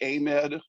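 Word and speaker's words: AMEDD: I am with the a med is how we pronounce it just Army Medical Department the a med Museum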